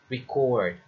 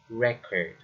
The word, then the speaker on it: record: Another is record, not record.